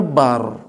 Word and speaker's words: Akbar: Dan Allahu Akbar, bar, memang bacanya bar. Itu dalam pembacaan yang benar dalam bahasa Arab.